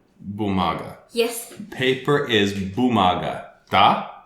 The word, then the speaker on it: бумага: Бумага. Bumaga.